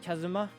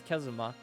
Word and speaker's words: Kazuma: this name is like is it like Kazuma I think it's kazma I'm just very bad